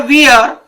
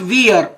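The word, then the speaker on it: wear: क्या बताया, लेट हर वियर some decent clothes today. My डियर student, this is नॉट वियर, इसका pronunciation वियर नहीं होता, वेयर।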